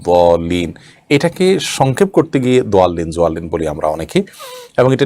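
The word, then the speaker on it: الضالين: এটা একেবারে ডাইরেক্ট দালের মতো না, আবার জোয়ালিন হলে জোয়ার মতো না।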